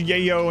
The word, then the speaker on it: yayo: and stuff like that he's pronouncing it wrong that's how the song pronounced it I know it's pronounced Yayo and in movies and in real life but that's how the song pronounces it what's the best catch-all